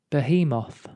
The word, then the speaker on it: behemoth: word of the day i think it's wrong it should be the hemoth behemoth the hemoth behemoth no